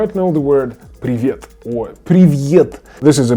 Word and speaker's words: привет: So it's привет, привет, привет, привет, привет, привет, привет, привет. Stress on the second vowel.